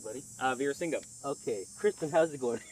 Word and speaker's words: Veerasingam: Veerasingam.